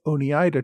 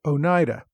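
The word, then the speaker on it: Oneida: about the iroy tribes and referred to the Ona tribe listeners inform me that once again I bought watch the correct pronunciation of a word it is in fact Onida I've been trying to be more careful about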